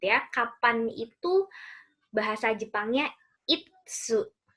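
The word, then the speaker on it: いつ: Nah, kemudian kalau teman-teman mau tanya kapan, gitu ya, kapan itu bahasa Jepangnya itsu. Jangan kebalik ya. Kalau isu itu kursi, tapi kalau itsu ada T-nya, itsu itu artinya kapan.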